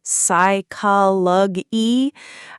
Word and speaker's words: psychology: He kept saying psychology until I told him, just pretend the P isn't there.